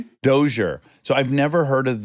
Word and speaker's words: Dozier: In fact I won't even know how to pronounce it. Is it the dozier? Doer. Doure.